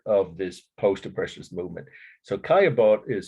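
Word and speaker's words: Caillebotte: and became part of this post-oppressions movement so kayabot is spelled c-a-l-l-b-o-t-t-e kayabot Paris a rainy day the title the date 1877.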